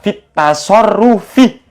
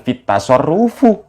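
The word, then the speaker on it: في التصرف: Kalau lafaz at-tasarruf kemasukan fi, bacanya fit tasarrufi, bukan fit tasarrufu.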